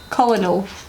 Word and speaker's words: colonel: Colonel. It's not colon. Colonel? Colonel? It's pronounced colonel.